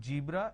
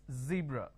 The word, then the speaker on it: zebra: they do is they pronounce this as zebra Joan Jill so please don't make a mistake the moment you replace the Sir with a jar it's a mispronunciation it's not zebra it's zebra it's not John it is Zone it's not Jill it is Zeal it's a z sound another mistake that people